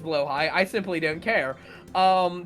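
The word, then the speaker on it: Blåhaj: the blah I know it's pronounced blow High I simply don't care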